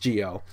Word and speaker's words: Zi-O: or you know it's written zo but it's pronounced Gio anyways guys that just about does it for